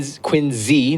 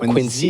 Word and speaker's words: Quincy: Cuz I grew up So, Wayimoth, Melrose, Quinn, Quinzy, not Quincy. It's pronounced with a Z cuz all the names in Massachusetts are messed up.